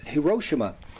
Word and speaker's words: Hiroshima: and that was uh President Obama going to hirosima uh sometimes pronounced Hiroshima and here let me read you his first